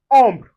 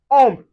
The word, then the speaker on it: ombre: When you see o m, we pronounce it as on. I can find it in ombre. ombre. ombre, which means shadow.